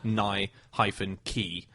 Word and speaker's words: Nike: All he did was just circle and send it back to them, and he circled Nye-key, as in a key opening a door. Yeah. So it's Nike.